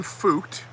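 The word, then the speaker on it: Feucht: the fences instead sean fucht i'm thinking that's how you pronounce that f-e-u-c-h-t um we're gonna go with fucht because it sounds like it might be pronounced f-u-k-t which is not something we're going to say here on youtube sean fucht of sean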